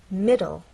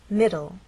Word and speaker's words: middle: two syllables M and the stress is on the first part it ends in an e but the final sound is an l sound because the E is silent it's especially important in